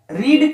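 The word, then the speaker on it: read: ये रेड जो है, रीड का तीनों फॉर्म, फर्स्ट सेकेंड थर्ड तीनों का स्पेलिंग जो है सेम होता है, लेकिन जब इसको हम अगर वर्ब थर्ड या वर्ब सेकेंड रूप में यूज करते हैं तो इसको रेड प्रोनाउंसिएशन किया जाता है।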